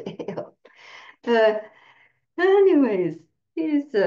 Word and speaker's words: Eyal: And his last name is Eyal, but it's pronounced Ale. Not but, and it's pronounced Ale.